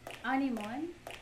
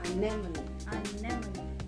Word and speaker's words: anemone: Animon. Animon, ang pagbasa mo. Ang tamang sagot ay Animonic. Hindi. Ano? Ang stress ay nasa second syllable pala. Hindi ko dali. Anemone.